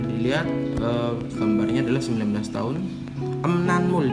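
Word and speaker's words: 음란물: Emnanmul dibacanya emnanmul, bukan emranmul tapi emnanmul artinya pornografi.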